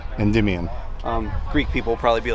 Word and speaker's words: Endymion: But it's how do you pronounce it? Endymion. Endymion.